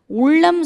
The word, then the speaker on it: உள்ளம்: உள்ளம் சொல்லும் போது மட்டும் உள்ளம்னு சொல்கிறேன். உள்ளம் உள்ளம் உள்ளம் உள்ளம் நாக்க உள்ள மடிக்கணும். உள்ளம்.